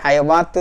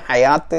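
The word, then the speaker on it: حياة: സീനത്തുൽ ഹയാത്തി ദുന്യ എന്നുള്ളിടത്ത് അലിഫ് വസലാണ്, ലാം കമരിയാണ്, ഉച്ചരിക്കണം. ഹയാത്ത് എന്നുള്ളിടത്ത് നമ്മൾ ഇന്നലെ പറഞ്ഞതുപോലെ വാവിൻ്റെ മിഡിൽ അലിഫിട്ട് കാണാം, അതുകൊണ്ട് ഹയവാത്ത് എന്ന് വായിക്കാൻ പാടില്ല, ഹയാത്ത് എന്ന് അകാരമാക്കി ഉച്ചരിക്കണം.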